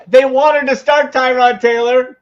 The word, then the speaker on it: Tyrod: After saying they wanted to start Tyrod Taylor, or Tyrod, as it's correctly pronounced.